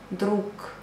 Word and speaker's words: друг: Друг, but you pronounce друг.